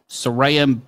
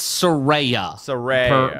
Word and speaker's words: Saraya: here comes Soraya formerly known as Paige yeah sarayam got the second biggest pop of the night and it'll be rare Soraya it's Soraya per her Twitter yeah she explained how to